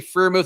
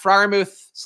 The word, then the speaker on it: Freiermuth: Or I'm Pat Freiermuth, rather. People also hate that I say Freiermuth instead of Freiermuth.